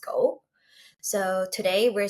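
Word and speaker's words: 五: While talking about the fives, the number is actually symbolic because in Japanese, the number five is pronounced go.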